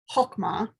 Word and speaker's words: chokmah: And then the third word is chokmah, which is spelled C-H-O-K-M-A-H.